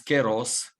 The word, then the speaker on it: kairos: kairos oui pour vous kairos c'est cela la même notion quel en philosophie dans la philosophie grecque il y prononce queiros et signifie le temps